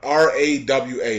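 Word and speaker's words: Rawa: of Musul Kwam and Raha Rahra or whatever R awa that's how you say it are all cities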